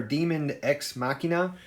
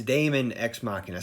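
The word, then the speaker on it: Daemon X Machina: name which I did I had said machine or diamond ex machina and it is Damon ex machina so I apologize for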